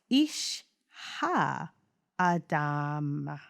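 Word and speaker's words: איש האדמה: It's pronounced Ishha Adama.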